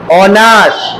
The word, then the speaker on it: honour: অনার, যেমন HONOUR, অনার, HONEST, honest. মনে পড়েছে? এইগুলোর এইচ এর উচ্চারণটা হয় না, তাহলে ভাওয়েলের উচ্চারণ হয় বলে এক্ষেত্রে আমরা অ্যান বসাবো।